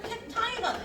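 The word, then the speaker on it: cacti: 얘가 이제 복수가 되면은 캡타이가 돼요. 그래서 이 되게 얘가 라틴어에서 출발했나 아마 그럴 거예요. 그래서 발음이 영어식이 아니라 다르게 돼서 I로 발음을 합니다.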